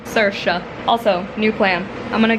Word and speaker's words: Saoirse: Saoirse. That is the pronunciation of the main character's name. Saoirse.